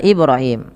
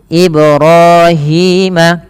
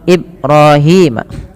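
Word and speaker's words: إبراهيم: Kemudian teman-teman pada lafal Ibrahim, pantulkan pada lafal mim, pada lafal ba yang dia berharakat sukun, ia dipantulkan, dan ini bacaannya kita kenal dengan bacaan qalqalah. Teman-teman, kesalahan yang terjadi dalam membaca qalqalah di antaranya 1, tidak memantulkannya, contoh Ibrahim. Yang kedua yaitu menambahkan hamzah pada lafal bunyi ba, Ini juga salah. Harusnya dipantulkan dan tidak menambahkan hamzah.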